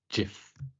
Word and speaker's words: GIF: It's pronounced Jiff. You. Can we ban him from this now? We need him. No, it is GIF.